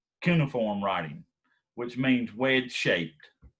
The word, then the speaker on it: cuneiform: write writing is called neoform writing which means which shape sorry i mispronounced that but right here right now but i'll pronounce it right on the reading cuneiform is the name of it kaneoform all right so